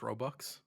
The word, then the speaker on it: Robux: my name for christmas roblox bucks that's what he got that was what he wanted uh they're pronounced robux oh i got it